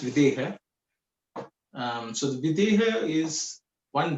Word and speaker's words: Videha: Like, what does the word Vaideha mean? Okay, so it's actually it's pronounced Videha.